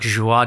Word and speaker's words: Joie: Joey, by the way, is spelt Joie. Joy. It's like joie de vivre.